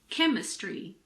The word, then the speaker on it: chemistry: H is also sometimes silent after a C. For example, chemistry, mechanic, school, stomach, technology.